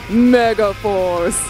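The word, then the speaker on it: Megaforce: Mega for is that how you're supposed to pronounce it Mega Force yeah we're looking for the Mega Force babe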